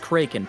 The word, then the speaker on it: kraken: so In the original Scandinavian, it is actually pronounced kraken, but we aren't original Scandinavians, are we?